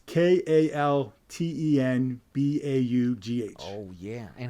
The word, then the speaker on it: Kaltenbaugh: So it's Kaltenbaugh. Oh, yeah. And how do you pronounce it? Kaltenbaugh.